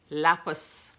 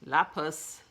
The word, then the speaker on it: lapis: but lazar which stone lapis lapis sorry I messed up the pronunciation of that stone all the time my daughter